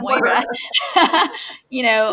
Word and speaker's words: Moira: Moira.